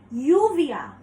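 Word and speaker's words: lluvia: another difference with English is Double L is pronounced as yeah so for example the word yuvia is rain it's not written with why but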